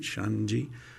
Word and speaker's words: Xande: Xande, which is short for Alexander. So it's the Xander end of the name that's pronounced in Brazilian Portuguese.